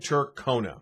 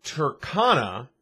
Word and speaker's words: Tercona: new very different but still some people insisted on calling it turkona here's why it is turkana and not turkona back in the 90s